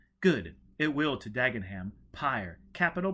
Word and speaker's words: PyrE: it will to Dagenham pyre capital P Y R P Y R capital e pronounced pyre as in funeral pyre tell Dagenham we've located